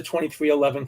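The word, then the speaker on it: 23XI: 23-11 that's the 23 so that's where the 23 11 came from 23 is jordan and 11 is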